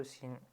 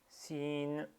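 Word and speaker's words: سين: Donc sin avec fetha, le premier son qu'on entend lorsqu'on dit sin, c'est le ton s. Donc ce s, on y ajoute l'accent fetha qui est e, donc ça donne se.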